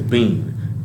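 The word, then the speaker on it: biyn: Sayan basically it says Bean it's spell b i y n but you would say bean and listen what it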